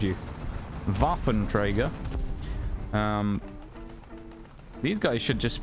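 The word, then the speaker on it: Waffenträger: our team there's a Waffen Trager right there he's dead or vafin Trager I suppose cuz you shouldn't pronounce the W in German name should you vaen Trager um these guys could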